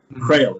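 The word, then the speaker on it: Kroehl: excuse me known as named julius crowell crail if the family pronounced it because they'd originally been from scotland and had left after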